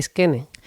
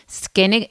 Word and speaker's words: Skene: se escribe Skene? Skene, S-K-E-N-E, Skene.